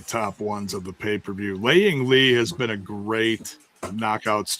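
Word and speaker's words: Lei Ying Lee: Is it Lei Ying Li? It's It's Laying Li.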